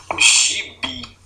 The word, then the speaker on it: gibi: Por exemplo, a palavra gibi. Então, quando você pronuncia, ó, você vê que o bi é a última sílaba, né? É pronunciado de forma mais intensa do que o gi, né?